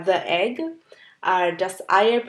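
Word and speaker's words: das Ei: সো ই আর আই লেটারগুলো যখন একসাথে থাকে তখন এটার প্রোনাউন্সিয়েশন হয় আই। আর একটা এক্সাম্পল সেটার জন্য হচ্ছে যেমন ডাস আই।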